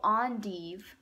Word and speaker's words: endive: And they look like there's some kind of, it says, oh, endive. Belgian endive. Tells you how to pronounce it. I thought it was endive, but I guess it's endive.